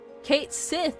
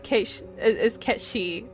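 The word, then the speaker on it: Cait Sith: But, like, I genuinely really dislike that they made it so that Kate Sith is the well-known quote-unquote pronunciation for Ketchi.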